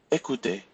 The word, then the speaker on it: écouter: So we will not pronounce the R if you have a verb ending in ER. So repeat after me. Parler, regarder, inviter, jouer, danser, écouter, aller, dîner.